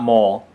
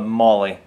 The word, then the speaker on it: MOLLE: l l e but it seems to be pronounced not mole but Molly so kind of a